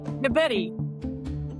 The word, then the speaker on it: DeBettignies: Before the show started, he was saying, say spaghetti. So, DeBetty.